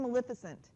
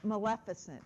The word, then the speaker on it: Maleficent: complacency right how many of you have seen Maleficent or Maleficent excuse me that's the way it is pronounced okay I went to go see it